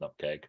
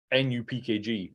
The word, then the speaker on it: nupkg: I'm going to rethink how I pronounce nutkeg, because that's obviously correct. You just have. I will be. I don't know. I'll have to rethink my. I'm waiting for someone to say, because I've also heard NUPKG as the pronunciation of it as well, because people haven't formulated